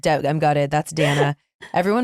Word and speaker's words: Dayna: That's Dana. Everyone, my name is spelled D A Y N A. But love you. Like day.